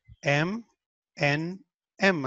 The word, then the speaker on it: M&M: And, entonces cuando lo dices rápido decimos M and M, M and M, M and M, por eso decimos M, N, M, haz de cuenta que pronunciamos M, N, M, M and M, so, te das cuenta, es un sonido corto.